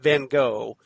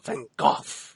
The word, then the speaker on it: Van Gogh: He's just like, no, it's Van, like she said, would say, she pronounced it Van Gogh, and then the Seventh Doctor corrected her, going, no, Van Gogh.